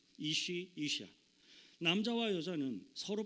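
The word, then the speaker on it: אשה: 성경 창세기에서 남자라는 뜻을 가진 말로서 사용된 히브리 원어의 단어는 이쉬입니다. 이쉬. 그리고 하나님이 그 여자의 손을 잡고 아담에게 왔을 때 아담이 그 사람을 보고 여자라는 의미로 사용한 히브리 원어의 단어는 이샤입니다. 히브리에 익숙하지 않은 사람들이 듣기에는 거의 발음조차 똑같은 말처럼 들리기도 합니다.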